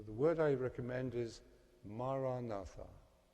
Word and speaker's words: Maranatha: So the word I recommend is Maranatha. 4 syllables. Ma, ra, na, tha.